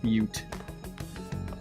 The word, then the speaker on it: Butte: All right, that's how it's pronounced. Butte.